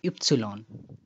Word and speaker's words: Ypsilon: A single letter in German, Y pronounced as Ypsilon.